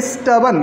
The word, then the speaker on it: stubborn: इसको बोलेंगे स्टबन। क्या बोलेंगे? स्टबन। आर को लाइट कर दीजिए, साइलेंट कर दीजिए।